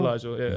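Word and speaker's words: Mylyjael: How's his first name pronounced? Malajal? Malajal, yeah.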